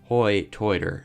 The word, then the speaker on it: Hoi Toider: It gets its name from the way people pronounce phrases like high tide, like hoy-toid.